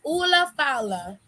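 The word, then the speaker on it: Ula Fala: Oh, it's Ula Fowler. Okay. It's called a Ula Fowler, and that's what he picked up and put around Jay Uso's neck because I couldn't figure out how to say it.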